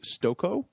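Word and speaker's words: Stokoe: by a man named James Stoke oh I believe is how you say his last name it looks right the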